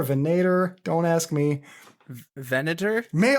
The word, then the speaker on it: Venator: name of the band v v n a t o r so venor venator don't ask me venor